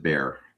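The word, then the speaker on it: Bexar: It It spelled B E X A R, but it's pronounced it Bear.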